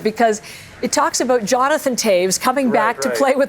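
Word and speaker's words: Toews: So, you got a lot of Taves, Menanite name, and a lot of that in today's entry in the And most people mispronounce it, too. They say toes.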